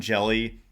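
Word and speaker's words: Hjelle: um funky and sean jelly 611 he's very tall and skinny he's like slender and his last name is jelly but it's spelled with an h and a j so he's a guy i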